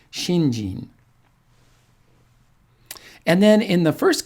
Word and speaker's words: shinjin: character is shin and the second character is also sheen but we pronounce it jean because it's hard to say shinshin it's kind of a